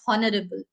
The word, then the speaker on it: honorable: if you understand then H is silent many people pronounce it as honorable it is not honorable